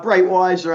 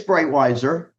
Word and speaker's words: Breitweiser: We have Bretteiser. Am I pronouncing your name correctly? Uh Brightweiser I've gone by. But yeah, anything, you know, it's Brightweiser.